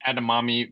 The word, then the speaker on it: edamame: and it's uh just think of mommy mommy think of your mommy a mommy and a mommy